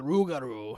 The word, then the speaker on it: Rougarou: All right, so let's just hear the intro into the rigatoni. I think that's how it's pronounced. rigatoni, close. Yeah. The Rougarou.